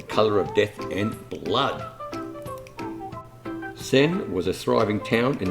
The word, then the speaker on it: Senj: So Senj, that's spelled S-E-N-J with the silent J, is a historic walled town and is the largest town between Zadar and Rijeka.